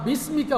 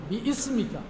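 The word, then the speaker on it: بسمك: দেখবা বিস্মিকা হইবা না, বিইসমিকা।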